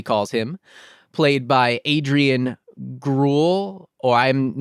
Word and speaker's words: Groulx: him, played by Adrian Gruel, or I'm not sure how to pronounce that name. I am so sorry, Adrian. I was trying to look it up. It's Groulx. The X really gets you.